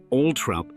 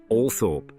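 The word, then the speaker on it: Althorp: Though Charles Spencer notes his father insisted, the family pronounces it all rather than the commonly heard All Thorp.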